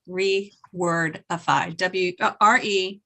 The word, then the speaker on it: Rewordify: And The name of the app, Julie, is called rewordify. Just in case anyone else is listening and they want to know it. Rewordify. REWORDIFY.